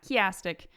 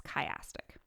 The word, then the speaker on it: chiastic: mispronouncing this all along it's not chastic it's chastic sometimes called ring structure a